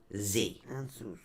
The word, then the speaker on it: Ansuz: yeah, it's spelled actually ANSUZ. But the correct pronunciation of this particular rune is AHN-SOOZ. Anzus. Right. It's 2 syllables.